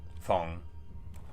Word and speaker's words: Feng: Feng. Not Fang. Nothing rhymes with Fang.